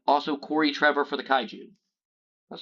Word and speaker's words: Kaiju: And also Corey Trevor for the Kaiju.